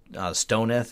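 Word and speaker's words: STONITH: It used to remind me of the, I think we used to pronounce it Stoneth, S-T-O-N-I-F, shoot the other node in the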